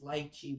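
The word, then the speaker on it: lychee: I don't know anybody know spelled lii but I do not know the correct pronunciation. The proper is lchi but most people say luchi.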